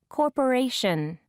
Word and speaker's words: corporation: second syllable location require third syllable Corporation Japanese page 39 pronunciation B